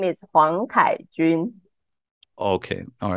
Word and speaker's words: Huang Kai-Chun: My Chinese name is Huang Kai-Chun.